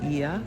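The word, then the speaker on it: Oia: We stayed in IA. That's spelled O I A.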